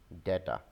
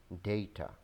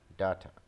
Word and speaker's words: data: There are various pronunciations of this word. Some people call it data, but the real pronunciation of this word is data, data, data. Though some Britishers also pronounce it as data, data, data.